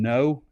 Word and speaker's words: Ngo: They also return Ashton No, NGO. It's pronounced no at long snapper.